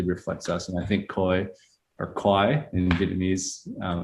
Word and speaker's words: Khoi: it again yeah car it's like cart in the back of your throat you're saying yeah like